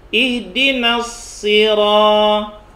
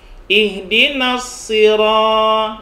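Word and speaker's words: اهدنا الصراط: bukan roh ini nanti kalau ada yang masih membacanya pake karo Nah itu dilatih dirubah kroll ihdinash shiraathal ihdinas sirotol lagi in Dino setir oabang bukan roh bukan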